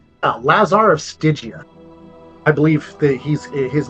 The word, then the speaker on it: Stygia: You call him Lazar of Styria? Stygia.